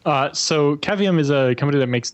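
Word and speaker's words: Cavium: some pictures of Allan is caveum is that how you pronounce this thing yep uh so cavum is a company that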